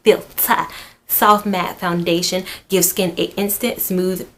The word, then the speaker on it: Filt'r: Pro Filt'r, and it's named Filt'r. You gotta say it like Filt'r.